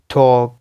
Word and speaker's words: टॉक: और ये रूल आप इस तरह भी कह सकते हैं कि जो है वोवल के बाद एल आ जाए फिर एम आ जाए तो उस केस में भी एल प्रोनाउंस नहीं होगा, काम, पाम, टॉक, इस तरह के वर्ड्स।